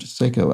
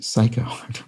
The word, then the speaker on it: Seiko: Seiko Watch 2 although it's pronounced Seiko as opposed to Psycho West don't know why